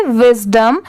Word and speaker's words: wisdom: अब जैसे देखिए, WIS इतना विस होता है और DOM इसे डॉम नहीं प्रोनाउंस करेंगे। बेसिकली अगर आप इसे DOM डॉम भी पढ़ेंगे तो कोई रॉन्ग नहीं होगा, बट इस वर्ड में यहाँ पर इसकी प्रोनाउंसिएशन डॉम नहीं है, इसकी साउंड क्या आ रही है डम की।